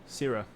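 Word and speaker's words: Syrra: say your name again syrah syrup just think of the word syrup are sierra missed but with an a oh i'd like it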